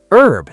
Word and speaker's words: herb: Herb. That's so interesting. You say herb, but you write it with an H at the beginning.